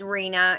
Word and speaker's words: Reena: not sure no it's Reena it's h she came into trash crafting chat one day and I asked her the same thing and she always wonder pronounced like Tina but with an R so I was like